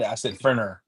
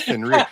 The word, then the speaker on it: Fenrir: All right, because I said Ferner. Fenner? No, it's Fenrir.